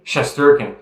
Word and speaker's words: Shesterkin: don't how do you say his name shesterkin shesterkin there you go eor shesterkin eigor eigor yeah